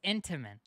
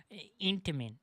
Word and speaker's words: Intamin: popular brethren, was developed by the Swiss company Intamin. Also, it's Intamin. The fuck did he say? Many of its most popular brethren was developed by the Swiss company Intamin. It's Intamin. Intamin. Yo, Lime, what's up? Intamin.